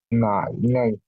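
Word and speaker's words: 奶奶: ইয়ে গ্র্যান্ডফাদার দাদা নাই নাই নাই নাই হাফ থার্ড টোন উচ্চারণ হবে।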